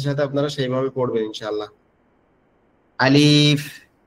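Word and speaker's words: ألف: আচ্ছা আলিফ যে অক্ষরটা আলিফ আলিফ অক্ষরটা আমাদের ঠোটের এখান থেকে উচ্চারণ হবে। আলিফ আলিফ আমাদের উপরের দাঁতটা এই নিচের ঠোটের উপরে হালকা করে লাগবে একবারে হালকা একটু বাতাস বের হবে গালের ভিতর থেকে আলিফ আলিফ আলিফ আপনারা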